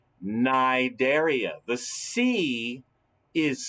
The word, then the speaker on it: Cnidaria: look at the name naidaria the sea is silent the sea is silent because these critters live in the sea so they can't hear